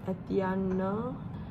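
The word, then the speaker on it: Étienne: It's Etienne because it's a French name.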